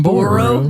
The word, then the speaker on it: Boru: Boru. Boru. Not Boo.